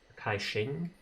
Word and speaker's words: Kai Xing: So Kaizing, Kai Xing, like SH.